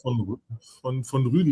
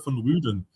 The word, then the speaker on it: von Rüden: Jonathan von Rüden, not from Rügen, not from the island, but von Rüden.